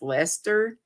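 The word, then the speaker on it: Leicester: B the bishop of I think it's pronounced Lester l e i c s t r DK Jen can let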